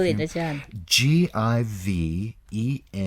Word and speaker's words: Givenchy: Givenchy. It looks like Givenchy, but it's Givenchy.